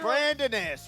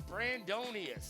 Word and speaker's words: Brandonius: Brandonus, right. Kiro just yelled up to us. It's Brandonius. Brandonus, right.